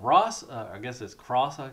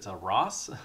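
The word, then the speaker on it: Xross: This is Ross. It's X-R-O-S-S. I think the X is silent.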